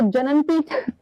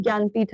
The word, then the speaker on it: ज्ञानपीठ: इसे जननपीठ तुम पढ़ा, इसे एक्चुअली इसका प्रोनाउंसिएशन इज ज्ञानपीठ अवार्ड।